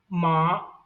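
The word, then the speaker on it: 麻: Like I'll pronounce the first tone ma, that is the mother.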